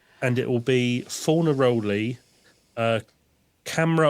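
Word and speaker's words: Câmara: And it will be Fornaroli, Camera or Camara. They seem to have changed the pronunciation of his name halfway through the season to Camera.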